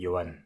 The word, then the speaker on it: Johan: years ago but uh in france we have that name actually joan but we never pronounce h or the h in